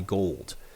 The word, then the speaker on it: Gould: a very good one he has the exact same spelling and he pronounces it gold it's pretty interesting nonetheless